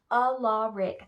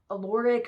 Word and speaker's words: Alaric: Alaric, that's how you say his name. People say Alaric or Alaric or some other weird thing, I don't know.